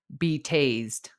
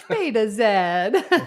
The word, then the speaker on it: Betazed: what it says, but the nontruckies read it as be tased. Be tased. That is I'm going to say that from now on. Be tased. They think you're a cop. Exactly. They're like, "Do you like being tased?" I'm like, "No, it's Beta Zed."